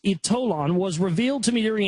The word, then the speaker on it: Ytolan: The power of Ytolan, it's pronounced Ytolan, was revealed to me during a spiritual hypnotherapy regression during which I experienced life in Atlantis.